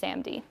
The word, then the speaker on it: SaMD: can evaluate just this product and this is pronounced samd and samd are pretty interesting and uh there's